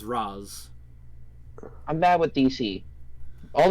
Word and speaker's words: Ra's: it's pronounced Raz.